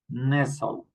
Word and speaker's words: nestle: And we pronounce similarly castle, hassle, nestle. Okay, castle, hassle, nestle. Okay, remember we don't pronounce the t.